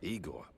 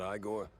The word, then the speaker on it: Igor: Igor, not Igore.